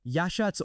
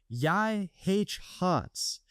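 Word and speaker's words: Yachats: Number 10, Yashats, Oregon. Say it with me. Yashats. Most people can't even pronounce it, which is exactly why it's still a secret.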